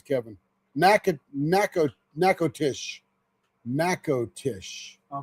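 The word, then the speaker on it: Natchitoches: Nack nack nakotish. Nakotish. Of course, Trudy would know. Nack nacatish. Natish. Oh, you don't pronounce. It's not like match like match. It's nac nakotish.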